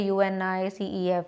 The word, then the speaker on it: UNICEF: word it becomes UNICEF we don't say uni c EF it becomes again too long to pronounce like you and I see EF what is the use of having acronym so again they have made overall pronounciation that is UNICEF okay now exercises can